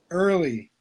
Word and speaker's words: Ehrle: Early.